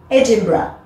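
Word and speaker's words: Edinburgh: c'est éedimbourg en français mais attention ça se prononce pas comme ça en anglais on dit edimbra à toi edimbra et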